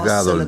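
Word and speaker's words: גדול: Gadol significa grande. ¿Está bien? Ahora, en hebreo el énfasis suele ir en la última sílaba. Entonces no dices gadol, dices gadol.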